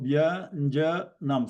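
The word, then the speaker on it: व्यञ्जनम्: So it has 3 syllables and a varna at the end. Okay, so 3 syllables, Vyanjana, Vakara, Yakara, followed by A at the end. So it's a conjunct consonant Va and Ya. So Vya, V, Y, Vya plus A, Vya.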